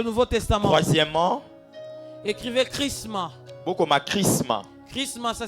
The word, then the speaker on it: chrisma: Chrisma. Chrisma, ça s'écrit H R I S M A.